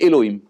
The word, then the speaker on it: Elohim: on va le prononcer elohim on va le prononcer d'après sa vocalisation non pas d'après ces lettres parce que le nude